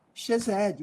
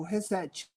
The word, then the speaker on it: Chesed: A Torá como instrução, justiça social, Zedaká e Chesed, ou Resed, como preferir a pronúncia.